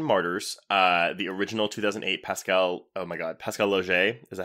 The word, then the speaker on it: Laugier: everyone, we're talking Martyrs, the original 2008 Pascal Laugier, is that how you say correct.